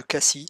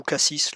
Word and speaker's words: Cassis: voici la petite ville de cassis ou cassis la prononciation dépend si vous voulez passer pour un parisien ou pas et pour information et